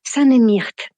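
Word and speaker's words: tanemmirt: non elle me dit ici on dit pas choukrane on dit alors je vais mal le prononcer ça ne myrte et c'est vrai que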